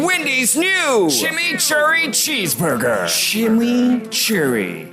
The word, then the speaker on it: chimichurri: new shimmy Cherry cheeseburger shimmy Cherry that's how you pronounce it let it roll off